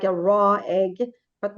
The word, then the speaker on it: Rå: so we start with R very good sounding like we're getting it yes you do so think of it like this it's like raw almost like a raw egg but not really